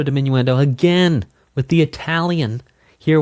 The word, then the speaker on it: diminuendo: Crescendo, diminuendo, again with the Italian. Here we go. So, crescendo is cendo. Diminuendo is dimminuendo. Dimminuendo dimminuendo. Crescendo. It's technically to correct it. It is technically correct to pronounce multiples of crescendo as crescendi and multiples